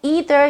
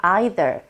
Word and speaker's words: either: 뭐 이제 나도 역시 뭐 이런 뜻인데, 자, 미국의 성우, 캐나다의 성우는 보통 either 이렇게 발음을 합니다. 하지만 호주나 이제 영국 분들은 either 대신에 either, neither, either 이런 식으로 I라는 액센트를 쓰죠.